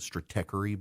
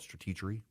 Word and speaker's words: Stratechery: I think most people pronounce it Stratechery, but he wants to call it Stratechery.